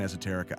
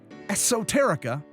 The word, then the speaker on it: Esoterica: The word Esoterica is pronounced with an S sound, but I've been dropping in a harder Z sound this whole time.